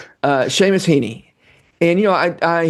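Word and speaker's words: Heaney: name says A and the EA and the last name says E. But anyway, uh Sheamus Heeney.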